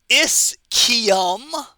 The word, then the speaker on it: ischium: originals are the ilium the is kiyom note the pronunciation i don't want to hear you saying or ischium it's the ischium and the pubis so